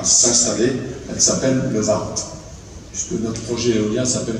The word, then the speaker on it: Warndt: Donc quand on dit VART maintenant, dans le nord à Thionville, on voit à peu près où c'est.